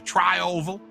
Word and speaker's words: tri-oval: just went through to try oval uh that's how they say it yeah there you go that's like a trifle but with oval at the end speaking of americans mitchell